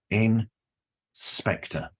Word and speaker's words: Inspectre: I recorded a show with Ed, who is the creator of the fantastic Inspector podcast. That is spelled INSPECTRE, as in ghost. Inspector.